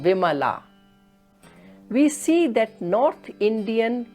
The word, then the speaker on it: Vimala: For example, when we pronounce this word, it is Kamala, Kamala. But when the same word becomes a feminine word like Kamala, then most probably we are going to pronounce it as Kamla, Kamla, or Vimla instead of Vimala.